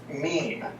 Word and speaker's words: meme: biologist Richard Dawkins coined a new term mean a word that he intentionally fashioned to rhyme with Gene Dawkins defines a meme